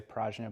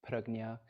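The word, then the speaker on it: prajñā: hear this term pregnia paramita most people say parajna by the way I learned in my Sanskrit class that it's technically supposed to be pronounced parognia um so if you hear me say that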